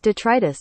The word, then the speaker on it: detritus: Detritus.